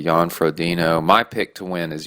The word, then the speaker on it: Jan Frodeno: Jan Frodeno.